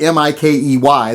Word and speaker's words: Mikey: a viewer named Mikey he actually says in his email is pronounced Mickey but it's spelled m-i-k-e-y there's no C in it so it's not Mickey it's Mikey I hate to break